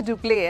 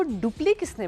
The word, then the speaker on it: duplex: अच्छा, DUPLEX को डुप्ले किसने बना दिया? इट was never डुप्ले, एक्स है वहाँ पर। और ज़रूरी नहीं है कि हम मनमानी रूल्स बनाते रहें। डुप्लेक्स, that is the right way of saying it.